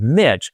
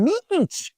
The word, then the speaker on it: Mitch: work with me and she couldn't pronounce my name as Mitch. So it was and she was always quite respectful and she said Mr. mech and so when I